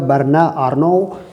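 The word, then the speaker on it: Bernard Arnault: से इनका तालुक है वर्ण और नौ ये फ़्रेंच में इस तरह से इसको प्रोनाउंस किया जाएगा वर्ण रनो यह इनकी आगे है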